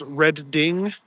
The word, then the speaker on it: Reading: Pronounced reding. Uh, reading. Okay. And why do they spell it? Oh, it's like past tense red.